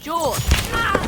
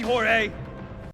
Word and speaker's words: Jorge: My name's pronounced George. Don't you backtalk me, Jorge!